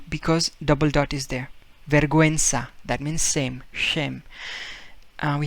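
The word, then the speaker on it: vergüenza: verguensa in spanish verga okay now here we pronounce u because double dot is there verguenza that means same shame we have the word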